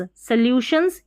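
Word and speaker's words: solutions: हैं या SO को, इसमें ल्यू और शंस, सोल्यूशंस या सॉल्यूशंस, दोनों तरीके से प्रोनाउंस कर सकते हैं, सोल्यूशंस और सॉल्यूशंस।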